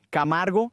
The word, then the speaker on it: Camargo: es, ¿cómo yo, un chico blanco del Bronx, pronuncio tu apellido. Jajaja, lo has dicho bien, Camargo es perfecto.